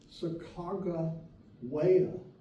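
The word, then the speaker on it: Sacagawea: said we know that her name is a Hada name and it's pronounced Saga waya and that name is still in the Hada language it means bird woman Sakara waya waya is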